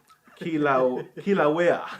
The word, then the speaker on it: Kilauea: Kilauea.